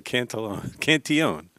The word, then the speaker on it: Cantillon: Cantillon. Did I pronounce it right? Oh, it's French. Okay. Cantillon.